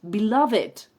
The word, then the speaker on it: beloved: tienes mucho afecto vale es beloved y se pronuncia la terminación final it belov it vale belov it Hometown su querida ciudad the